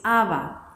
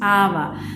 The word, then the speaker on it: Abba: decir papá, es decir, sin el acento en la segunda A.